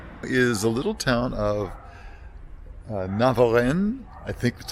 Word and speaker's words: Navarrenx: First stop is a little town of Navarrenx. I think that's how it's pronounced. It has an X at the end of it, but I'm pretty sure you don't say that.